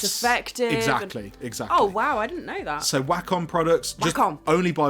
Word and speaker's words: Wacom: exactly oh wow so whack on products you can't only by Wacom I can't only by welcome it might be pronounced Wacom so it's spelled w eh c om tap that into Amazon